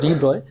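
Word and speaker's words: de Broglie: अब जरा देखिएगा, Louis Victor डी ब्रॉय, pronounced as डी ब्रॉय, put forward the bold hypothesis that material particles in motion should display wave-like properties.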